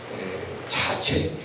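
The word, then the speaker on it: 자최: 참치라고 해서 바로 봅니다에 자체 재수라고 써놓고 발음은 자체라고 대공 소공 시만 여러분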